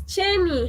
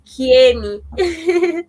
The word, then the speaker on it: Chenny: So I think because I'm a Kamba, I can literally pronounce that as Chenny. Some people will pronounce it as Kieni.